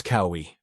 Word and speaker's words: Kaui: My name is Kaui. In Hawaiian, each vowel is pronounced, none are silent. However, native speakers tend to blend them together. For example, a plus U would make an AU sound.